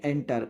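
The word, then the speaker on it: enter: एंटर, इंटर नहीं होता है ये हम क्या कहेंगे इसको?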